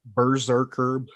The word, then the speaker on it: Brzrkr: no vowels but it's i'm going to call it berserker that's how you say it berserker b-r-z-r-k-r um this book was